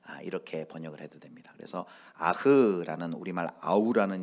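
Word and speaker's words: אח: 히브리어는 아흐예요. 아흐. 근데 이 아흐라는 이 뜻은 아까 얘기한 것처럼 형제. 그래서 네 아우가 어디 있느냐, 오늘 질문은 네 형제가 어디 있느냐, 이렇게 번역을 해도 됩니다. 그래서 아흐라는 우리말 아우라는 이 히브리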